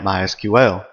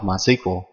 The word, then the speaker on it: MySQL: As you can tell, I've been calling it MySQL. That is the correct pronunciation. However, it is also commonly called MySQL.